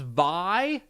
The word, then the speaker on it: Vay: It's pronounced Vi.